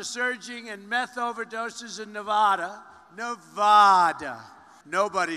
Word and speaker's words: Nevada: Trump isn't the only casino boss was trouble pronouncing Nevada check out my exchange was steve lynn about